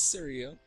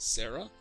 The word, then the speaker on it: Saria: Now this is Saria, Link's close personal friend, and it's not to, her name is not to be pronounced Sarah, like I thought as a kid, and that was like